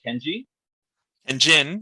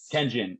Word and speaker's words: Tenjin: that to join um kenji and jin yeah no tenjin okay that's how you properly pronounce it okay united magna you're